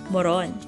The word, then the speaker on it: moron: Today's recipe is suman moron, or rice rolls. Moron is a Filipino native delicacy. The stress is placed on the last syllable, so we say moron.